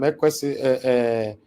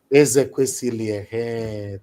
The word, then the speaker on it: Ezekwesili: I felt to say, Madam Ekwesili, I don't have to pronounce her name properly.